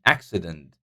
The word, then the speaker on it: accident: syllable taking this dress and accident accident is first syllable all right guys so